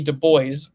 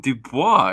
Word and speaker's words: Du Bois: a contrast to that W.E.B Du Bois uh as apparently you will usually hear it pronounced Dubois but that that is